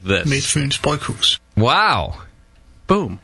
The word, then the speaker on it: Midtfyns Bryghus: In Denmark, we pronounce Midtfyns Bryghus as Midtfyns Bryghus. Midtfyns Bryghus.